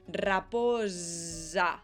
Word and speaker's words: raposa: La Z era una S sonora. Es decir, al pronunciar esa S tenemos que hacer que vibren las cuerdas vocales. Raposa.